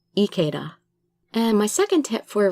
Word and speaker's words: Ikeda: like the Japanese Ikeda, because like I said, I is pronounced E, so Ikeda.